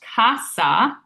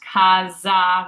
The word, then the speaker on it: casa: So, this is not pronounced kasa, which is the tendency for English speakers. It's actually pronounced kaza with that z sound and kaza means house.